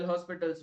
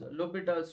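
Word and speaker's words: L'Hôpital: don't read this as L hospitals rule it should write as low bet else rule H and S is silent this is Lupita's rule so this is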